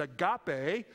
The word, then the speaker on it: agape: the dictionary indicates that Agape is Christian love or God's love for Humanity however right after that there's a second entry and it's spelled the same but it's pronounced differently it's the word agape